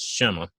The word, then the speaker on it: Shema: So it would be SHM, because there's no vowels in Hebrew, but it looks like, to me, the pronunciation is Shema. So that's how I'm going to say it.